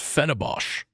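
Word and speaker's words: Fenerbahçe: You know, it's actually pronounced Fenerbahce. Fenerbahce. Yeah. That's why it has like the weird letter. It doesn't matter. The thing under the C.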